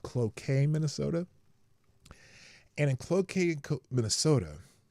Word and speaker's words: Cloquet: Here, I'mma spell it in the chat. It's cloet. C L O Qu q U T Cloquet Minnesota.